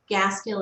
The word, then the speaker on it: Gaskill: Gaskill is GAS as in Sam, KILL, like the words gas and kill together.